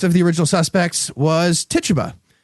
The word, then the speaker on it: Tituba: All right, and the last of the original suspects was Tituba, whose name I learned in 9th grade is not pronounced Tit-tuba.